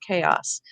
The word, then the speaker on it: chaos: You're going to learn Greek too, because whenever we have a word where the CH is saying K, that's a Greek word. So K, A says A at the end of a syllable. And I'm going to use the A to spell the A sound if I'm doing the reverse. Os, the sound is ah, spelled with the O. The sound is s, spelled with the S, chaos.